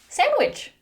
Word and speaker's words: sandwich: Sandwich.